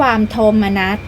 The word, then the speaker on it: โทมนัส: โสมนัส ยิ่ง แก่ ราชา โ มนั อ่าน ว่า โม มะ นั หมาย ถึง ความ เสีย